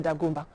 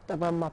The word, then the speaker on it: Dagomba: In the following report, we'll break it all down in Yendi, the capital of the Dagomba, or better pronounced, Dagomba people.